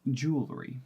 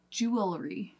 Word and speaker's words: jewelry: that's a hard pronunciation why do we take out the extra vowel it's supposed to be jewelry jewelry which might make it a little bit easier to go from that W because what we did is we shortened it in syllables we shortened it to